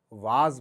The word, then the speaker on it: was: High school तक हमने WAS को वाज पढ़ा था। आई डिड not know this is called वॉज। सलाम साहब ने हमें बताया कि this is नॉट वाज, this is वॉज।